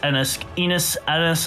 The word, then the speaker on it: Ennis: so girth Enos is yes that is how his his last this name is pronounced Garth Enos Ennis I call him Enos